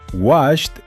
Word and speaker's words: washed: Ambos terminan con el sonido de una té seca y explosiva. Washed y touched.